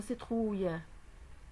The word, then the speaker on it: citrouille: Ici donc il y a le I dans le mot citrouille. Donc on va prononcer le C en S, citrouille. Dans le mot ficelle, il y a le E.